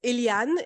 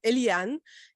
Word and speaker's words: Éliane: just so you know it's illian in French that's exactly how you pronounce it you can pronounce it Elian Elian in English and any other way you want I'm from Rwanda so in in Rwanda you'd probably pronounce it iriane so I'm okay with any type of pronunciation but don't call me Elaine please apologies no